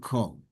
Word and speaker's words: כל: And the same thing with koil and kol. If it would have a makaf, which means it connects it to the following word, it's kol. If it doesn't, then it should be koil.